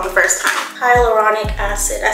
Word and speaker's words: hyaluronic: going to use this hydraulic H Hy hyaluronic I think I said it wrong the first time hyaluronic acid I said it so wrong I think I said hydraulic acid one thing that has